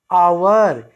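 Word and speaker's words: hour: यहाँ H silent है, इसका उच्चारण हम शुरू करते हैं आवर, यानी एच यहाँ उच्चारित नहीं होता है।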